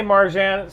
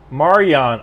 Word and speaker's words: Marjan: It is weird, like, as an American, from Marian. I guess the J is silent, or the J is a Y, like Jehovah, whatever.